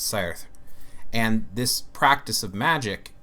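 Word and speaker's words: seiðr: pronunciation on this, but it's pronounced roughly Ser. It's like S-E-I, and it's like this symbol that's sort of like it means a T-H, but it kind of looks like a D and then an R, but it's Ser.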